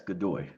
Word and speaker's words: Godoy: So your last name is pronounced Godoy? Yes, Godoy.